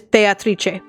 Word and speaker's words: Beatrice: of me my lady I always thought her name was pronounced as Beatrice it mku because the spoilers it is Beatrice not only is it